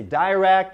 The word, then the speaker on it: direct: Now, there are different pronunciations to the word direct. You can say direct or direct.